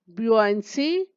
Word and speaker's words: buoyancy: उत्प्लावकता को कहते हैं इंग्लिश में ब्यूआंसी, BUOYANCY। थोड़ा सा अटपटा है इसका प्रोनाउंसिएशन, ब्यूआंसी।